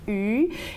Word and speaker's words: 鱼: We have various kinds of dishes, but one dish that's important is fish, because the pronunciation of fish, 鱼, is the same pronunciation as abundance, 鱼.